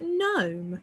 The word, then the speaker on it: gnome: But sometimes it's spelled as GN for things like gnome. So we're still saying the same sound, that N sound, but we're now writing it slightly different.